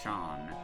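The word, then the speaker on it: Seam: Uh, the name Sheen, pronounced Shawn, and that's uh, and this is my little shop.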